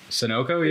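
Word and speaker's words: Sunoco: of thing to do wait you pronounced him sonoko that's how they're pronounced sonoko yeah sonoko bro I'm [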